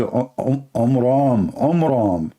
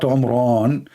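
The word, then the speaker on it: Amram: So it's the father of Moses, his name is Omram, not Omran.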